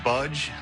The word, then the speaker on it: Budge: It's actually Budge.